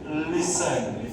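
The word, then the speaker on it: listen: তারপরে আছে লিসেন, কি হবে? লিসেন লিসেন। টি এর উচ্চারণে কিন্তু অমিট থাকবে, ঠিক কিন্তু থাকবে না, লিসেন নয় কিন্তু, লিসেন।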